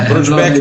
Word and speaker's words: Brodbeck: Não precisa pronunciar como em alemão, pode pronunciar brasileirado mesmo. Ah, Brodbeck.